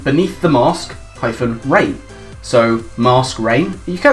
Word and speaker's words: Masquerain: song called Beneath the Mask -Rain. So, Mask Rain. You say Masquerain, but M-A-S-Q-U is mask, it's pronounced that.